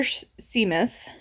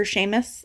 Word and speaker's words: Seamus: So, book 2 is The Oldest Brother Seamus, or Seamus, I think is how you say it.